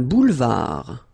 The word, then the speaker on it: boulevard: Un boulevard, final D, not pronounced.